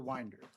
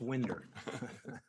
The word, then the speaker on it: Winder: Winder. First of all, I want to congratulate the court on pronouncing my name correctly, because usually it's Winder.